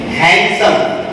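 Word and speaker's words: handsome: हैंडसम हम लोग इसको बोलते हैं, लेकिन इसमें डी जो है वो साइलेंट है। हैंडसम, ये क्या है?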